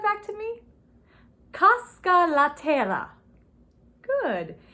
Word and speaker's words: terra: Casca La Terra. Good. And terra, if you can, roll your R's. Roll your R's with that, terra.